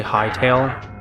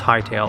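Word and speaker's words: Hytale: What I want to recommend to you, Mato, is to just play Hight Tail. Oh, yeah. He's up. Yep, he's done with his nap. Go get your 8 hours. Norman nappies. What is Hightail?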